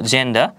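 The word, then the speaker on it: gender: পাচ্ছি যার মানে দাঁড়াচ্ছে জি এর পরে যদি ই লেটার থাকে তাহলে হচ্ছে জি এর উচ্চারণ জ এর মতো হবে আরো কিছু উদাহরণ যদি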